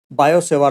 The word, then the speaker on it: Biot–Savart: तो हम यहाँ पर स्टार्ट करते हैं बायो सेवार लॉ से। देखो इसको पढ़ना कैसे, ये टी को साइलेंट रखना, इसको पढ़ेंगे बायो सेवार।